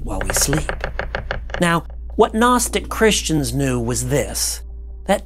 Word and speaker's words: Gnostic: cooked the word is Gnostic City College break remember now just like all good children and God above the g is silent it is spelled g-n-o-s-t-i-c